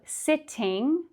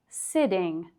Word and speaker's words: sitting: So instead of sitting, we say sitting, sitting.